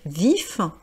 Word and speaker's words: vif: Donc je rappelle hein l'adjectif vif I f on prononce bien vif donc alors que d'habitude on ne prononce pas forcément les consonnes et au fémin c'est